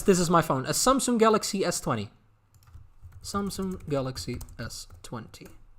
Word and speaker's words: Samsung: feel good thank you it's pronounced sun not soon samsung i was like samsung really i had no idea that that's probably then my dutch accent samsung i didn't know that